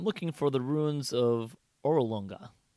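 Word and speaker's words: Orolunga: for the ruins of orolonga can you spell that o-r-o-l-u-n-g-a just like it sounds fire come on it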